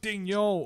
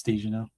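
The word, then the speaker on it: Daigneault: I think in French it's Dejano. No, it's Daniel.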